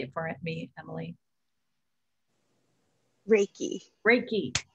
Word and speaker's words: reiki: wrong ricky right say it for me emily reiki reiki and it's a form of energy healing i was just putting in the chat um yes janet because i i practiced reiki also and it's been a big help for